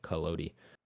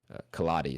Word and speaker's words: Collodi: book called Pinocchio by Carlo collodi kaladi is probably more how it's pronounced uh starring of course